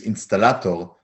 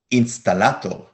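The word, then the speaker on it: אינסטלטור: installato latto insta installato there is a proper hebrew word for as well for plumber but most israelis use installato a word borrowed from european languages say it again installato you can think of it as an installator miri says but we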